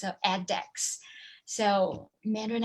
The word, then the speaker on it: edX: mandarin x because it's edex it's e d x and we pronounce it like add x of addex so mandarin x was